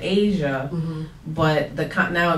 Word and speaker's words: Asiah: Asia has the age on it, so when people see it, they're like, Asiah, they don't know how to pronounce it. Oh. So I had to add pronounced, like the continent, Asia.